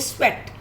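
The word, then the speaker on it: sweat: अब आप इसको EAT ईट नहीं बोलेंगे, यहाँ पे इसकी साउंड ए आ रही है, स्वेट.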